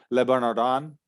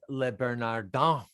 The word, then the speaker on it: Le Bernardin: I'm sure people have gone to Le Bernardin that you mentioned earlier. And I bet I'd be interested to look at the Google reviews for that. Adam, your French pronunciation is absolutely awful. Le Bernardin.